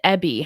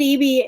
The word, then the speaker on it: Eby: wanted to ask, David Ebby, how bad does Bettina believe the foreign interference is in BC in particular, or Canada more broadly? David Eby is that's our premier. That's how we pronounce it.